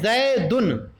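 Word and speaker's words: زیدٌ: وضاحت زیدن کا تلفظ یوں ہے زیدن.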